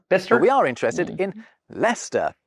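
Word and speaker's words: Leicester: super old map but bit by bit we shared those tiresome syllables in pronunciation anyway speech didn't match spelling because you know most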